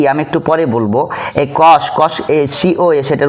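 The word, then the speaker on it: cosec: সি ও এসই সি কোসেক উচ্চারণ করব।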